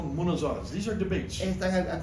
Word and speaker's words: munazara: been at the forefront of what we call munazaras. These are debates. están al comienzo de lo que son debates. For hundreds of years. Monozars. They've had munazaras.